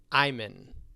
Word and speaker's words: Iman: is his moment so for the Iman Iman it's Iman okaymon Ayman you were closer and she was married